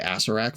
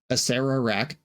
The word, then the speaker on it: Acererak: with Aserak, the arklitch, I'm going to be really careful about adding the extra syllable. I've been calling this guy Aserak for years, and my Patreon Discord was pretty aggro at me about mispronouncing it for an entire video a while back. Asera raak the ark glitch happens